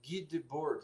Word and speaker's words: Guy Debord: sociedade do espetáculo de Guy Debord, acho que é francês, seria assim, né? Em inglês já seria Guy, mas daí já é outra pronúncia.